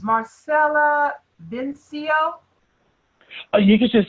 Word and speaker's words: Marsala: it let me make sure I have the pronunciation of your name it's Marcella VIN Co you could just say Vince this